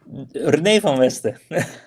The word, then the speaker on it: René van Westen: And by the way, say it correctly in Dutch. René van Westen.